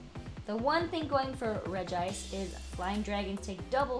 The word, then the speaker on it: Regice: It's Regice, right? It can't be Regis, because he's an ice Pokemon. I've decided to pronounce it Regice. I hope I'm correct. Regice, unsurprisingly, is an ice Pokemon.